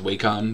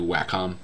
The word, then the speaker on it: Wacom: eh c om and the American Way is way con but the company's Australian I think and it's actually a Wacom is how it's pronounced I'm thinking of in the past I've